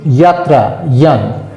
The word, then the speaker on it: KYAN: এটা কিন্তু কে-ইয়ান মানে কে ফর নলেজ, ইয়ান উচ্চারণ তো আসলে আমরা যানবাহন বলি, অন্তঃস্থ জয়ের উচ্চারণ তো মানে বর্গীয় জয়ের মতো নয়, অন্তঃস্থ ইয়র মতন, যাত্রা, ইয়ান।